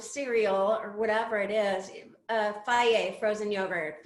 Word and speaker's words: Fage: your, box of cereal or whatever it is, Faye frozen yogurt, Fage. They have to explain the pronunciation on the back of the yogurt container,